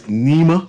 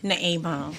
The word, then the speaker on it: Naima: And in studio, before we go, because we have the last 2 minutes, we have Miss Nima. I pronounced it correctly? Naima.